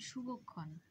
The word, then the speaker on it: শুভক্ষণ: যেমন শুভক্ষণ, শুভক্ষণ বানানটাতে তালব্য স আছে, আমরা উচ্চারণও করছি কিন্তু শুভ, শুভ বলছি না, অর্থাৎ ছ উচ্চারণ করছি না, স উচ্চারণ করছি, তাহলে শুভক্ষণ।